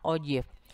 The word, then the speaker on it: ogive: Nah, diagram yang seperti itu dia disebut sebagai ogive ya, tulisannya ogive ya, tapi bacanya ogive.